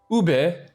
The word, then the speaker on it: ube: It's ube, not ub. You freaking You freaking You freaking You freaking people saying ube. Not pronouncing your e.